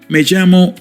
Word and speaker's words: Me llamo: Majamo David. Good. Mago is the standard phrase used when introducing yourself in Spanish-speaking countries. You will hear it constantly in real life. Magamo is pronounced approximately like may jamo.